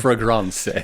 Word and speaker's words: Fragrance: It's pronounced fragrance.